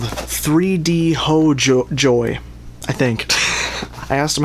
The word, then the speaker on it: 3DHOJOR: and they are called 3D ho joy. I think I asked them how to pronounce it and they said the R is pronounced like a Y and they said ho is like home and so I assume